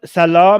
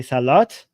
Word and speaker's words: Salah: first time ever Sal Salah means prayer in Islam right so in Persian we say Salat because we pronounce the at the end but Arabs apparently don't they say Salah um and yeah so